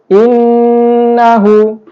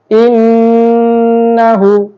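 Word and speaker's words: إِنَّهُ: tajwid selanjutnya adalah innahu ada Nun yang basydid dalam ilmu tajwid itu dinamakan ghunah karena kita harus membacanya secara berdengung innahu innahu kemudian bacaan tajwid selanjutnya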